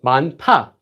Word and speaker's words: 많다: You don't need to pronounce this. So it removes. So that goes away. And you just pronounce it as this. So 많다, 많다.